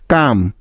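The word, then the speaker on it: calm: এল কে চক next M এর আগে এল silent এর কিছু উদাহরণ যেমন কাম সি এ এল এম কাম পাম পি এল এম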